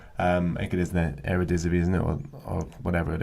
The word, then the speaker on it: Eredivisie: Is it the Eredivisie, I believe it's pronounced? Yes, something like that. Yeah. I haven't quite got my tongue around that one yet, but I think it is the Eredivisie, isn't it, or whatever it is.